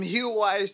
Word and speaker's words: Huawei: Them Huawei's, some bullshit like Yo. Yeah, I don't know how you pronounce that shit.